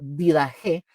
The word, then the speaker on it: Didaché: La didaché, mis hermanos, que se pronuncia como didaje, significa la enseñanza en en el idioma griego.